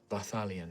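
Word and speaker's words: Vathalien: Can you spell that please? V A T H A L I E N. Balion.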